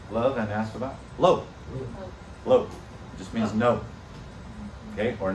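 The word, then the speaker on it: לא: and ask about lo lo just means no okay or not like in the ten commandments it says shall not says lo like know this know that or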